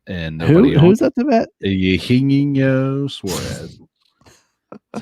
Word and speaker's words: Eugenio Suarez: Eugenio Suarez.